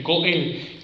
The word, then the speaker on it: goel: La palabra en hebreo es Goel, así como se escucha, así se escribe, Goel.